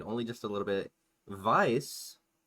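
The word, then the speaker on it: Weiss: Vice is spelled like Vicey.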